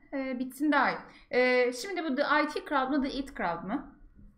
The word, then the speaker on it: The IT Crowd: Ben The It Crowd diye biliyordum. Ama hani tabii IT kelime oyunu orada var. Ama The It Crowd diye okunuyor diye biliyordum.